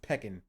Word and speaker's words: pecan: It's pronounced peckin.